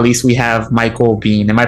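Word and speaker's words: Michael Biehn: carperson and last but not least we have michael bean am i pronouncing that right pete michael b yeah michael bean july 31st uh he plays lang on season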